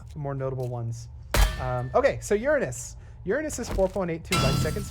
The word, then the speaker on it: Uranus: It's not pronounced Uranus, even though it's spelled that way. It's pronounced Uranus.